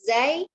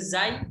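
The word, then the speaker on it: زاي: Untuk huruf zai itu diucapkan zai atau za? Nah, untuk zai itu ada dua. Bisa dipanggil zai, bisa dipanggil za.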